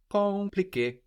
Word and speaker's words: compliqué: The M is kind of swallowed into the vowel before compliqué, confirmer.